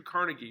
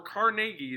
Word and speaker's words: Carnegie: You have one and only Andrew Carnegie, or Carnegie is actually how you pronounce it, Carnegie.